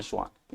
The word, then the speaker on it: Swann: स्वान हमारे यहां एक जंतु का नाम होता है, लेकिन वो वाला स्वान नहीं है, इनका नाम है स्वान। इनके नाम की स्पेलिंग थी SWANN, तो इनको स्वान बोलेंगे आप, इसे ये नहीं कह सकते, ठीक है।